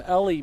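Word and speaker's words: Ely: Shout out to Logan Arcles who's watching from Ellie, Minnesota. Uh I was pronouncing it Eli. in weeks past and I got corrected on that a couple weeks ago.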